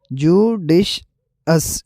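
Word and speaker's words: judicious: जडिशल और दूसरा वर्ड है जडिश अस। जडिश अस। फर्क मिडिल और एंडिंग साउंड में है जो सुनते ही क्लियर लगता है।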